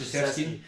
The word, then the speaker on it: Krzyzewski: Krzyzewski. I know that because there's not even an SH in that whole name.